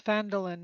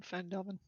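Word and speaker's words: Phandalin: roll 20 of it it's fandolin not fandelman at least according to the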